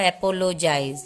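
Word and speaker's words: apologize: फिर लास्ट में यहाँ पे ई है, ई का कोई साउंड नहीं होगा, तो जेड तक का साउंड होगा, एपोलोजाइज।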